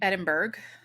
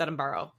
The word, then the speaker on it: Edinburgh: place what am I saying Edinburgh but it's Adam borrow yeah yep you know